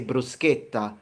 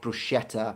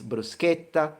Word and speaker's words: bruschetta: Just like we say bruschetta, not bruschetta or bruschiera. It's bruschetta, pistacchio.